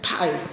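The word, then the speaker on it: 太: T ini dibaca TH, ta, ada tai, ya, tai, nah gitu ya. Biasain pengucapan Dina. Thailand juga. Tai, ya kayak di Thailand gitu, tai. Ya, orang Thailand nyebutnya tai, ada h-nya juga.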